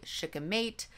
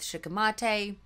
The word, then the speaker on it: shikimate: the shikimate pathway so it turns out that of the two common ways to pronounce this pathway i chose the less common one so if you want to pronounce it the way that most people pronounce it you might say shook a mate i went with shikamate tomato tomato i made my decision and i'm sticking with it that pathway is how